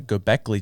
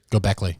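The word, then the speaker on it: Göbekli: more ancient than the gockley tee MH did I say it right go Beckley yeah okay yeah dang it's not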